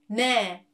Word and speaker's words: 네: Can you see I put my tongue around here? 네, 네, 네. And then this tongue position is exactly the same when Korean people pronounce 네, 네, 네, 네. See, I did not change the tongue position between 네 and 네.